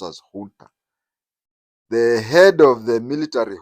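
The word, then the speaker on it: junta: it is spelled as Jun but it is pronounced as Hunter the head of the military Hunter was a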